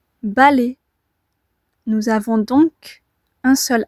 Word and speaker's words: balai: Balai. Nous avons donc un seul A. Attention, la deuxième syllabe, les, s'écrit AI. Il y a un A, oui, mais avec la voyelle I, cela donne le son E.